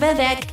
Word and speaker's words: Vivec: No, it's Vivc. The prophet's name is Vivec, not Gebc is in the soul.